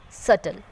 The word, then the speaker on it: subtle: Like death, doubt and subtle. Because in these words B is sitting next to the letters M and T.